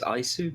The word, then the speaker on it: Isu: Yeah, I mean, I've always said it as Isu, but it doesn't really matter. It's my Spanish side coming out.